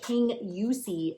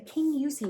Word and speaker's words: Kingussie: Uh I would never in a million years have guessed that King Usee is how you say that word. The Kingussie mitts by Sonya Turner.